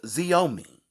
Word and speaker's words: Xiaomi: i have found is from a company called xiaomi and that is spelled x i a o m i g i wonder what nationality that is right